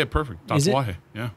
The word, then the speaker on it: Tatuaje: Tatuaje. Yeah. Tatuaje. I feel like It's easy just to say tattoo and aje really quick and just kind of let it flow. Tatuaje.